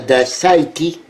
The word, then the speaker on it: Scythie: C'est Pierre de Saïti. De Saïti. C'est comme ça qu'on le prononce.